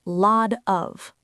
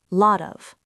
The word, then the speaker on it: lot of: In American English, the T in lot becomes a soft, quick D sound, which we call a flap T. It sounds like lot of, lot of.